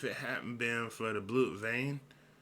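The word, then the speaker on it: Blut Vene: hadn't been for the blue vein or blue Vena as they end up pronouncing it in the anime he would have been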